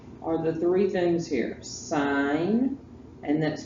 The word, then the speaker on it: sine: the three things here sign and that's pronounced s i n e it is not pronounced sin you sound uneducated if you say sin all right sin is